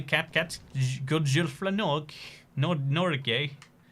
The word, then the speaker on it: Norgay: cat good girlfriend no nor gay it blew my mind that norgay was not norge because that's how i always pronounced it so i was like